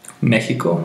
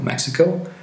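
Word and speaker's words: México: these sounds so however there are times when it has a sound that resembles the J in Spanish the most important examples of these pronunciation are the words Mexico Mexico Mexico andas Texas teas however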